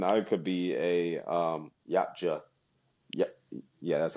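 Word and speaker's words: Yautja: Even I could be a um yacha yach.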